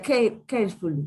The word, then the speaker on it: carefully: Ahí lo estás pronunciando como si tuviera una Q. Y antes de eso, pronúnciame esta palabra. Entonces sería carefully, Ah, sí, y no le tienes que cambiar para nada la pronunciación.